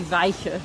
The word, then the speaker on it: Wijchen: around it oh well the sort of modern pronunciation would be vika look there it is